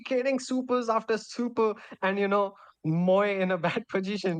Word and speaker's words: Mo: Mo, earlier I used to pronounce Mo as Moe, but one time chat said, no, it's not Moe, it's Mo. I'm like, okay, it's Mo. Fine.